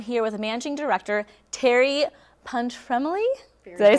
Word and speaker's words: Pontremoli: Fest, and I'm here with Managing Director Terri Pontremoli.